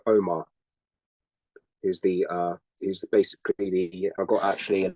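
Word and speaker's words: Ogma: okay and uh his name was what again Omar but it spoke SP it spelled o g m a but it's pronounced Omar because basic the g is silent in IR Omar okay like the OM yeah om script got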